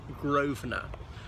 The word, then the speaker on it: Grosvenor: of the River Thames so this is called Grosvenor Square because it's owned by the Grove and her family it's spelled gross for normal pronounced Grosvenor they came to this country with a Willem